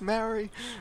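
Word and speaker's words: Māori: at the screen going no it's not it's not madrid it's maori but anyway oh that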